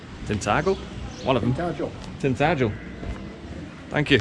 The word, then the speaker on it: Tintagel: you're out what a nice little place this tinle tinle one of them Tel tinel thank you s there we go just got